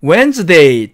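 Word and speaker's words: Wednesday: 방법이 있습니다 수요일을 보겠습니다 수요일은 웬즈데이 또는 웬즈 d 이렇게 발음 하구요 wed 라고 쓰고 점을 찍습니다 여기서 한가지 주의할 점은 철자에 주의를 해야 되는데요 여길 보니까 발음 되지 않는 즉 묵음 인 귀가 여기 가운데 끼어 있습니다 그래서 이 수요일인 웬즈데이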